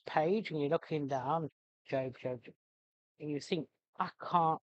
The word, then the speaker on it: Job: and you're looking down, Job, and you think, I can't find it. That's because it's spelt J-O-B, not J-O-B-E. So, yes, it looks like the Book of Job, but no, it's the Book of Job.